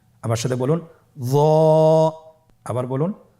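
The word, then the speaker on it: ظاء: য। একটু মোটা করে বলতে হবে। হরফটি হলো মোটা হরফ, বারিক করে পড়া যাবে না এবং হরফটি উচ্চারণ করার সময় অবশ্যই 1 আলিফ টেনে পড়তে হবে। আমার সাথে বলুন য।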